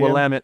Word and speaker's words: Willamette: Wamit. Like damn it.